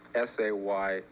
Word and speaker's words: SAMO: Well, you see it written on the walls and you don't know how to pronounce it. Perhaps you should put in parentheses SAY-MO, so that other people